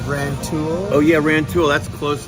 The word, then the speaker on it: Rantoul: It's Rantoul. Oh yeah, Rantoul. That's close to where I grew up. Yeah, Rantoul. The military base is there. That's Terry B. And Analog Outfitters moved to Rantoul from Champaign, and they sell vintage, homemade guitar